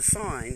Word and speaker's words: sign: So the sine has a silent G.